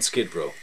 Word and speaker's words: Skid Row: informal descriptions do utter the second of the following two descriptions rhymes with glow without a red scent on Skid Row